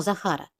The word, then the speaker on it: Захар: визначимо їх за хар А зараз пошукаємо наголос слова покличемо Захара Захар який голосний тягнеться останній а Захар ставимо знак наголосу А ось наша друга